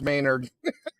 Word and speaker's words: Maynard: Maynard. It's not Menard, it's Maynard. Everybody's saying it wrong.